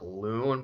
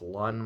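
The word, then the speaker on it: Lunn: every time I look at his name like loon but it's Lun like I just don't like the way it's pronounced essentially what it comes down to is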